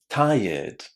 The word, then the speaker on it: tired: Lots of students say it incorrectly because they say red at the end. And it's a natural thing, isn't it? Because you see R E D at the end of this word. But unfortunately, this word is not pronounced like that. Listen. Tired. Tired. Can you hear that? I'm not saying red at the end. It's ed tired.